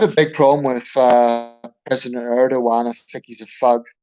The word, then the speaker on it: Erdogan: I'm not sure how his name is pronounced. It's Erdogan, actually.